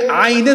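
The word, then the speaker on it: عين: সে আইনের উচ্চারণ করে হামজার মতো। এখন আইন উচ্চারণ হয় কোথার থেকে? ওয়াসাতে হালক, গলার মাঝখান থেকে।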